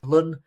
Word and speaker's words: ln: Um rather than using the usual log notation, we can use the natural logarithm ln or you might pronounce it lun.